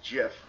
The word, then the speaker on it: GIF: creator of the dot get files said it's pronounced jif not gif no he's an idiot well he created it